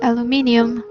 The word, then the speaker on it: aluminium: In the style of English language, because they say aluminium and the Americans say aluminum.